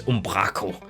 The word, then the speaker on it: Umbraco: Is that how you say it in English? Like in Danish it's Umbraco. Because we like roll the R in that like that really like Viking way, like when we talk.